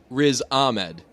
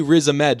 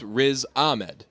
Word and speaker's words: Riz Ahmed: there is a need it's gotta be Riz Ahmed and we say it as a med we say RZA med just because it's easier because we're like there's three syllables one's got to have the emphasis let's go we would say we say RZA med like we think it's raised Ahmed I've never met somebody